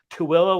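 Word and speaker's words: Tooele: you know there's hooper there's two willow when it's spelled to thule there's um people say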